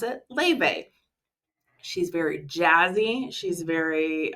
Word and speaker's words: Laufey: Like I said, she's Icelandic, but we pronounce it Laufey.